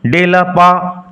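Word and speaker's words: de la part: এটি একটি ফরাসি ফ্রেজ উচ্চারণ লক্ষ্য করো ডেলা পা টি উইল রিমেন সাইলেন্ট ডেলা পা ডে এর অর্থ অন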